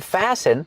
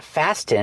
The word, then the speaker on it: fasten: my seat belt remember with the verb fasten the t is silent it's not fasten it's fasten fasten is the verb